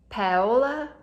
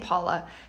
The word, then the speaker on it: Paola: I know it's like Paola. I keep saying Paula because, you know, why not completely say the wrong name for long enough that you think that that was the name?